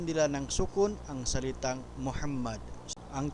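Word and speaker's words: محمدًا: ng sukun ang salitang Muhammad. Ang tamang pagbigkas ay Muhammadan, hindi Muhammadun, hindi rin Muhammad.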